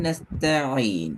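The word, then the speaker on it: نستعين: அல்ல பார்த்துக்கோ நஸ்த ஈசான் அந்த ஈய கொஞ்சம் தொண்டையில பின்னு கொண்டு போங்க ஈ சவுண்ட்ல இருந்து வாங்க ஐனு போகணும் இப்ப சரியே அலிஃப்ல இருந்து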